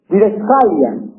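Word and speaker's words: διδασκαλία: Didascalia.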